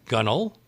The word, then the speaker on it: gunwale: boatswain is obviously bosun gunwale is gunnel forecastle is foxhole how